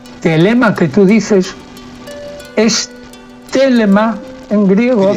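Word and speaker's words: θέλημα: Telema que tú dices es telema en griego, celema.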